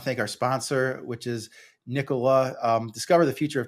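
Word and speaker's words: Nikola: um production tells me it's Nicola not Nica which sometimes I've um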